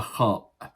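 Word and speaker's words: خ: Okay, above this bar in the middle, one dot, and this is the khaa. The khaa. So it is pronounced as kha, kha, kha.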